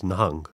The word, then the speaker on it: Nahang: The original Persianate pronunciation is Nahang, and the word was